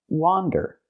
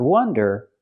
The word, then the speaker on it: wander: And the word is pronounced wander. Again, it has the open a sound like hot and stop. Wander. Not wonder, but wander. If I use the short closed sound like cup and up and I say